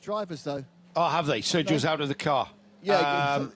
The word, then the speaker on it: Sergio: Sergio Nikolai that's how you say it, by the way. It's Sergio. Sergio. Yeah, Sergio. It's easy for me to remember because that's half of my name.